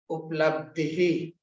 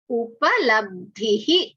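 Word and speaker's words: उपलब्धिः: See, when we have learned in the Hindi, we say uplabdhi. Uplabdhi. It is not up, it is upalabdhihi.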